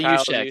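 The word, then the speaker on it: Juszczyk: G next guy's last name uh just what's use Che y k use Che thank you uh first one to score either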